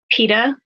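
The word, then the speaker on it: Peeta: inside of jekyll spoilers peta his name rhymes with pita bread in the hunger games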